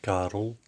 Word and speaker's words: Karel: Hello, my name is Karel, which is Carl, but in Flemish it's pronounced Karel.